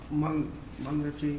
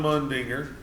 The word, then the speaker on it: Mundinger: Reappoint Dale with John Mungerty. How do you say that? John Mundinger. Mundinger.